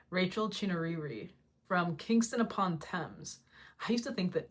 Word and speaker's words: Thames: Rachel Chinouriri from Kingston upon Thames. I used to think that Thames was pronounced Thames.